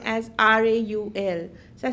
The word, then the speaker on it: Raul: the Arab world, right, they don't say Rahul, they say Raul. That's how they pronounce it. So the H is silent, right?